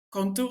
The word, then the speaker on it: Cantore: On parle de Girelli et Cantore, je sais pas comment ça se dit?